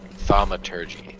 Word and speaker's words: thaumaturgy: Thaumaturgy. Thaumaturgy? Thaumaturgy.